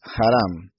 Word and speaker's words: Harán: Así se pronuncia la palabra que aparece en la Reina Valera como Aram, es Haram.